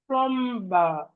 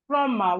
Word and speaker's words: plumber: Plumber. We have plumber. Plumber. The B in plumber is silent. So it's not plumber, as some of us say, it's plumber, plumber, plumber, plumber, because the B is silent.